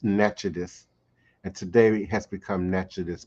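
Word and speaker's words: Natchitoches: outpost at the natchez natchitos how we pronounce nachodis and today has become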